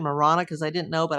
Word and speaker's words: Marana: Uh well, it's Marana. I keep saying the Spanish pronunciation Marana cuz I didn't know, but I guess in Arizona they they use the English pronunciation Marana.